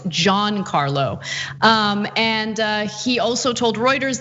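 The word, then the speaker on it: Giancarlo: uh john carlo's name it's not juan carlo it's john carlow and he also told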